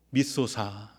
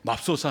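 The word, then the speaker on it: 믿소사: 밉소사. 발음을 잘 하셔야 돼요. 맙소사 하면 안 된다고 말씀을 드렸습니다.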